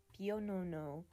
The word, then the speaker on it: Pionono: I have to go and look up how to pronounce it because I don't want to fail the Spanish people. Wait for this. Pionono.